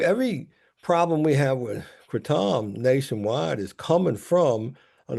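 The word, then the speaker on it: kratom: The one woman was correct in the pronunciation. It is cretam.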